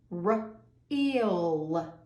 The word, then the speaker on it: real: We don't hear the A, we hear the long E, real. And you know the old saying, the first vowel does the talking, the second one does the walking. It is silent.